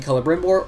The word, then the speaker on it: Celebrimbor: For instance, all Elvish words use a hard C, such as in the name Celebrimbor or Círdan the Shipwright.